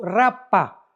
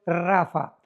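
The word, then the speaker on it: Rapha: R de Raúl ha de Armando, P de Pedro, H intermedia de Armando, Rapa, pero se pronuncia en el hebreo rafa.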